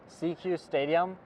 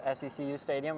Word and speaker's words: SECU Stadium: We're coming at you live from CQ Stadium, which I thought was SECU Stadium until we read the pronunciation guide.